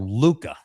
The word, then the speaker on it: Luca: It's called Luca. It's spelled different. So it's named after Babe's late son, Luke Laufenberg, who died of cancer a few years ago. But it is called Luca, but it's spelled with the Italian form, Lucca, Luca.